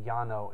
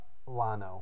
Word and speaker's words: Llano: oh by the way it's actually Yano in in Spanish so if you're wondering why I was saying pronounce like a Texan uh they may pronounce it Yano uh instead of uh Lano or Leno uh anyway so we